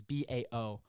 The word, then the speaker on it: Bao: pronounce his name correctly it's b-a-o so bao i'm gonna say bao because that's what i think it is but he ca he